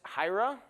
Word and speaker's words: Hiera: Um let's talk about Hyra. Uh, by the way, that is hyra. We say it like hyra. It's the first five letters of the word hierarchy.